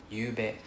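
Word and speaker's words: ゆうべ: So it's pronounced as Y u U B E. You bet.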